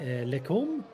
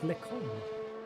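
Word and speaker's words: Les Combes: Oh, that will be, isn't that the Lecombe? I think I'm pronouncing that right. I will have the Frenchy kitty and chat if I'm butchering the French language, but I think it's Lecombe.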